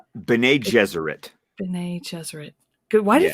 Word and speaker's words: Bene Gesserit: Um, his mother is Jessica, and she's a part of the Ben Gesserit? Bene Gesserit.